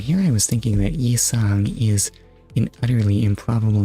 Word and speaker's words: Yi-sang: Also, why is it spelled with a Y? It's not pronounced with a Y, it's just Yi-sang.